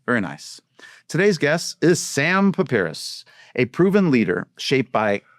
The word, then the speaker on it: Sam Pipras: Did I pronounce that right? Yeah. Very nice. Today's guest is Sam Pipras, a proven leader shaped by competition, discipline, and the relentless pursuit of growth.